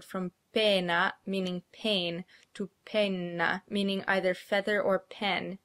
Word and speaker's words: penna: The words pena and penna are pronounced exactly the same, except that pena has one N, a short N sound, and penna has two N's, a long N sound.